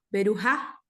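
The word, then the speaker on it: בְּרוּכָה: Sonaría berujá. Berujá. Sí, berujá. Suena como J y es como una H, ¿correcto?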